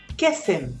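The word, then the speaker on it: קסם: Kesem.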